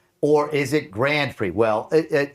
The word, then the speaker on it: Grand Prix: It's a Grand Prix, but no one ever says it like it's a fancy French thing. They say it like it's the Grand Prix.